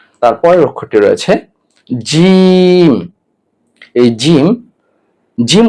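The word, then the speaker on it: جيم: তারপরের অক্ষরটি রয়েছে জিম। এই জিম জিম উচ্চারণ করতে হলে আপনাকে জিহ্বার মধ্যখান তালুর সঙ্গে লাগাতে হবে, অর্থাৎ জিহ্বার মাঝখানটা আপনাকে তালুর সাথে লাগাতে হবে, তাহলে জিম উচ্চারণ হবে। যেমন জিম জিম জিম।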